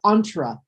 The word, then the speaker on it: entrepreneurs: Read how kids entrepreneurs Pretty close, pretty close. The pronunciation is entrepreneurs.